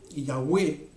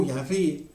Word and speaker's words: Yahweh: Y de hecho el tetragramatón, que lo podemos pronunciar Yahweh o Yahvé, ¿ok?, no es otra cosa que el verbo ser, ¿ok?